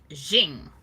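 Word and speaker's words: Qing: it start you know zing is how he said it and it was a little different than that um he said it correctly i can't do it um so i i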